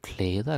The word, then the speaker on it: klæder: Det klæder dig. Og klær, usually we pronounce it klær, because we're lazy.